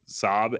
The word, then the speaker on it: Saab: I don't know how this company is is pronounced I've seen it around is it Saab sa a B yeah yeah Jets yeah so